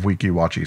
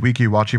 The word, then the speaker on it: Weeki Wachee: of the most interesting attractions, the Mermaids of Weeki Wachee Springs.